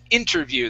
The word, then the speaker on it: interview: This is interview. The stress is at the very beginning of the word.